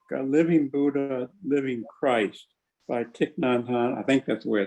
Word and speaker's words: Thich Nhat Hanh: Yeah, right now I'm reading a book, Living Buddha, Living Christ by Thich Nhat Hanh. I think that's the way it's pronounced.